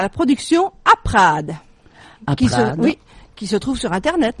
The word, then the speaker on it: Aprad: Alors c'est A-P-R-A-D. Aprad, comme ça se prononce.